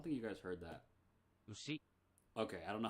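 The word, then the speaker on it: うし: Ushi.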